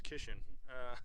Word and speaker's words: Keshawn: She's talking about I remember we learned how to say his name right, so it's Keshawn.